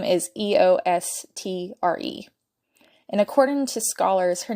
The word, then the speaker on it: Eostre: The name of the pagan holiday Ostara is spelled O-S-T-A-R-A, based on the pronunciation of Ostara's name, which her name is Eostre.